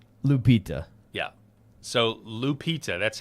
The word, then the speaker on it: Lupita: So Lupita, that's how you say her name?